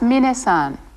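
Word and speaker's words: みなさん: thank you that was minna-san be sure to pronounce his name minute not mine next see her this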